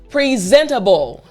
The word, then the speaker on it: presentable: is presentable good again presentable good notice how when i say it fast the t sounds like a d if i say it